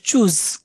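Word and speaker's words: Tschüss: ফাস্টেরটা সবচেয়ে ইউজ ইউজ হয় যেটা এটা হচ্ছে চুজ টি এস এস এস চুজ চুজ মানে হচ্ছে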